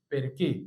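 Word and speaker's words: perché: انت منين عندي هنا فاكر السي والاتش تنطق كاف عشان في ناس بتقولها يرتشي غلط اسمها يركي بيركي وافتكر يعني ليه ليه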